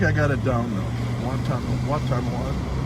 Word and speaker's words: Watonwan: Watonwan. It's all where you put the accent on the right. The accent on the right syllable.